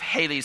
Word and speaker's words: Halley: You've heard of Halley's Comet. We're all mispronouncing it. He pronounced it Halle.